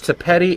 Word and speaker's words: Thapedi: It's Thapedi. It rhymes with Betty.